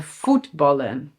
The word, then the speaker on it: voetballen: And "VOETballen" (to play soccer/football).